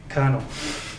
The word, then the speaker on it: colonel: for words like this which is pronounced Colonel you wouldn't guess it from a spelling and that's why we